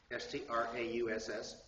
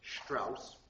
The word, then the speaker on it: Strauss: All right, next then, Richard Strauss, S-T-R-A-U-S-S, Strauss. Remember, German pronounced the root syllable S-H, Strauss.